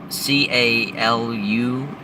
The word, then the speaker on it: Calusari: Now, the Calusari is spelt C-A-L-U-S-A-R-I, Calusari.